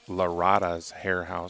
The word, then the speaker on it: Lara's Hair House: make a quick apology I mispronounced the name there of the title sponsor it's Lara's hair housee so it that that